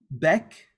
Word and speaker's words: bec: Except with the letters, with the consonants, C, R, F, and L. Okay? With these consonants, we do pronounce them. For example, bec, bar, bref, et bol.